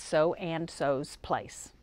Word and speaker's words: So and So's Place: That's So and So's Place. Emphasis on the second so's, it has an S on it.